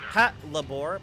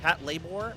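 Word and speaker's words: Patlabor: You see no PSM but I can say hello to Josh says it's pronounced Pat labore. Pat labore.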